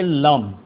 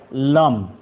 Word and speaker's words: लम: उसका बीज मंत्र है लम ल और ऊपर अनुस्वार प्रोनाउंस में होता है लम अधिष्ठाता देव उसका ब्रह्मा